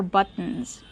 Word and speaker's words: buttons: These are buttons. That's right, those are buttons. Remember the pronunciation. Use the stop T, but, and then go to the N.